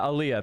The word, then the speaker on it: Aliyah: Yeah, Aliyah. Thank you. Aliyah. I can never pronounce that shit.